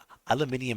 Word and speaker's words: aluminium: me so much, but aluminium just sounds so wrong. I hate aluminium. It does. It does. I I was just being I was being a saying it aluminum. Yeah, aluminum is less obvious less interesting. Aluminium is like the the British UK version of I know.